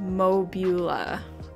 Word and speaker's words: Mobula: Onyx, Mobula is pronounced Mobula. Mobula. Oh, okay. Like Mobius.